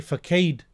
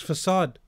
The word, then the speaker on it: facade: usage of the word he may say faked reading the word for kade but the word is facade so how do you